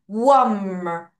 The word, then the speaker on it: warm: 자, 계속하고 있지만 AR 발음은 A가 에 발음이라서 air 이게 아니라 어떤 발음? earl 다시 earl 다시 earl 그러면 앞에 W 우어가 있기 때문에 요를 한 번에 발음할게요.